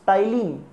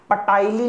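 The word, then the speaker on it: ptyalin: Chemical digestion कैसे होता है, इसके लिए एक बहुत ही जरूरी एंजाइम है विच इज टाइलिन। सर ये पटाइलिन नहीं है क्या? P silent. This is टाइलिन enzyme.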